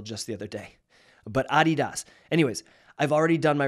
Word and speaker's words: Adidas: and they said that the real way to pronounce Adidas is Adidas so for 38 years I've